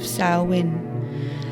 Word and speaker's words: Samhain: time of year the feast of salwin smiling she said the strange word so it seemed to rhyme with plowing while it's true that